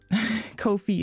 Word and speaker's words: Ko-fi: Did I say it right the first time? Kofi is how you say it. That's why I switched to Kofi because um people can do one-time donations.